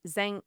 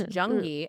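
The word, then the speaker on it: Zheng Yi: until married a pirate named Zang, sorry, Jung, because it's spelled with a zed, but it's Jungi at age 26 in 1801.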